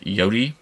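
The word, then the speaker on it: Yōtei: I think another thing is they got really scaled by Ghost of Yotei.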